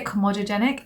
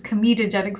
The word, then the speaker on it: comedogenic: of five on the comedogenic scale i always say chromatogenic and i don't know why i say that it's comedogenic scale my dad was watching